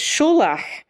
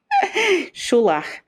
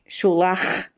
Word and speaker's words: Sholach: So it's Sholach, like that, like a loch. Sholach, not Sholach and not Sholak, Sholach, like you've got a bug stuck in the back of your throat.